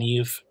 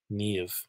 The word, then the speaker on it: Niamh: And some words just get really famous, like the names Siobhan and Niamh. They have BH, MH, they sound like V.